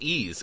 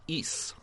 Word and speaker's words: Ys: And I played, well, the first thing is that it's not pronounced Ys, it's pronounced Ys.